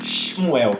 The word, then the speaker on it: Shmuel: No original hebraico, o nome Samuel não se escreve com um A, e sim um H no lugar do A. Então ficaria como um Shmuel.